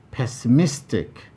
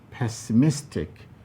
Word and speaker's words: pessimistic: primary stress lies 21 pessimistic pessimistic here we have four syllables pass c miss take option c where miss is highlighted is the place that receives greater prominence now what have